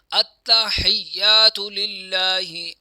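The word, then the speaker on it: التحيات: हालांकि अत्ता हयातला अत्ता हयातला क्योंकि यह अत्ता जो है यह भी मुशद्द है और या पर भी शद है वो भी मुशद्द है। तो इसीलिए यहां दोनों पर जोर दिया जाएगा।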